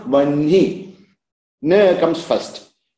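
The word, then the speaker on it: वह्नि: So, because nasal letter is coming after H, that nasal letter should be pronounced first.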